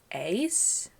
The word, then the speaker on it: Est: So, we have Hong and then I think you told me that in Thai his name is pronounced ace or just like an S.